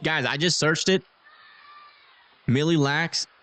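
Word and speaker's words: Mille Lacs: Millie lax means a thousand likes. So this is the one case that you guys are wrong. Even though that's how you guys have been pronouncing it. You've just been pronouncing it wrong.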